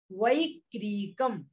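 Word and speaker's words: वैक्रियकम्: इसका उच्चारण है औपपादिकम वैक्रियकम, औपपादिकम वैक्रियकम, वैक्रियक नहीं है, बा नहीं है, वै, वैक्रियकम, क्रियकम, ठीक है।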